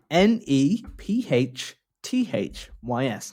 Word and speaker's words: Nephthys: it i i told you it's right and it's spelled by the way n e p h t h y s no i think it's netist nephitus you just